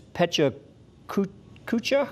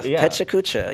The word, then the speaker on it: Pecha Kucha: help me through that it's pecha kucha yeah pecha kucha yeah it's a japanese uh word and um actually this happens all around the world and charleston's version of pecha kucha brings a lot of